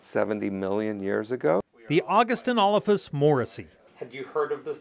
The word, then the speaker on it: Augustynolophus morrisi: Augustynolophus Morrisi. Can you say August? August. Inolophus? Inolophus. Morrisi. Morrisi. So you put it all together, it's Augustynolophus Morrisi.